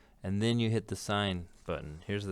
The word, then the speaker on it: sin: sign is right here it looks like sin but it's pronounced sign and because we don't